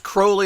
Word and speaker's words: Crowley: crowley and it's pronounced crowley a lot of people say crowley etc and it's uh he used to state that it was like holy crowley okay so that's the